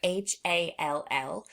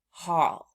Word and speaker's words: hall: So that word right there, HALL, we might think that it's going to be the word hal, but it's not. It's pronounced hall, because ALL words typically rhyme with the sound all.